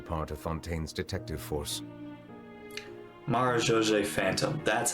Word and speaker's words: Marechaussee Phantom: Marechaussee Phantom, that's how you say it.